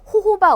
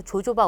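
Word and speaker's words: jojoba: 중요합니다 시험이 자주 출제됩니다 호호바 오일이라고 하고요 혹은 발음기호에 따라서 조조바 오일이라고 합니다 같은 거예요 그다음에 여기 캐리 오일이라는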